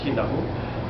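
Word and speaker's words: Kinaʻu: k as a common term but the correct pronunciation for that street is kinu um the reason why it was pronounced kinu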